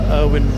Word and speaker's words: Erwin: Erwin, or Irvin as they pronounce it, Rommel.